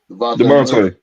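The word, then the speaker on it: Dejounte: Devontae.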